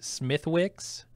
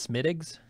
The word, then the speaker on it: Smithwick's: Like I said, there's a brand of, I think it's beer that we would say Smithwick's, but it's actually pronounced Smittigs.